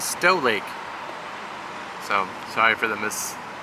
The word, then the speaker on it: Stow Lake: we found out that it is not snow lake it is stow lake so sorry for the